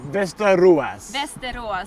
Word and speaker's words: Västerås: Västerås. Västerås, okay, that's obviously an awful pronunciation of it, but there are 6 stone ships.